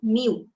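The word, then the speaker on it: μ: it will always be suffix by prefix by mu so its pronunciation is Mu muu but we use this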